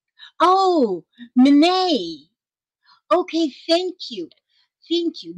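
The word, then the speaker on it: Mine: My name is pronounced Mene. Oh, Mene. Okay, thank you. Thank you. Mene, M-I-N-E, Mene.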